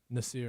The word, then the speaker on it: Nasser: Spelled Nasser, pronounced Nasir.